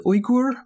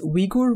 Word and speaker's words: Uyghur: I use the term Uyghur instead of Uyghur, which is the one you probably hear more frequently in the news nowadays. This is the pronunciation the Uyghur people themselves prefer.